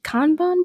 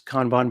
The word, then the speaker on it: Kanban: I just have like a chart of, I think it's like a, I don't want to mispronounce it. It's a Kanban board. Is that what Yeah, it's called? Kanban board. Yeah, that's right.